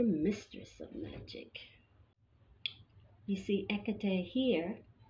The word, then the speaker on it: Hecate: of magic you see ekatee here her name is spelled h e c a t e but it's the h is silent so the correct pronunciation